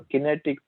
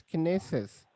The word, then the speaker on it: Kinesis: there are some questions or kinetics no no no no it's kinesis yeah what is it yeah kenney says uh today we will be cover covering their kinesis is just that service